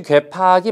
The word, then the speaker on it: 괴팍: 그 다음에 역시 괴팍이 맞습니다. 어그러질 괴자에다가 팩할 팍자이지만 팍으로 쓰기로 했습니다.